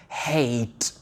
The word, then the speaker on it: hate: Vu qu'on a le E, on va le prononcer comme dans les lettres de l'alphabet. Donc ça donne hate.